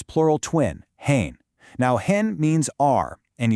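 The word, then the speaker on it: हैं: But, the plural, with the bindi, gets this nasal sound at the end, hain.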